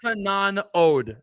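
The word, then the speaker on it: Janewattananond: Yanawatanud. Actually, is how you say it.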